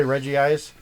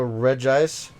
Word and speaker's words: Regigigas: Like, a lot of people say Regigigas. There's technically only one I in there, so Regigigas.